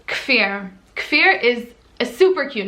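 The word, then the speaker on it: Kfir: is k-f-i-r now fear it's like seeing the k and the f together is a little bit challenging but when it is said properly fear it's so cute i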